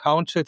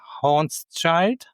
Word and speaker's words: Haunschild: If you're searching for Haunschild, it's quite easy to find me. English people sometimes pronounce it Haunschild. This is not correct, but maybe it's easier to find me then.